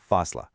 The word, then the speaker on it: Fasla: The song's name is Fasla, which is pronounced Fasla.